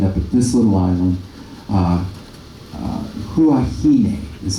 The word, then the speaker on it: Huahine: Huahine is how you pronounce that.